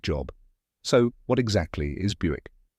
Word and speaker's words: Buick: the correct pronunciation is Buick rhymes with music let's break it down